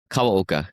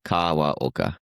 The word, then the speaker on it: Kawaoka: Kawoka. Kawa Oka.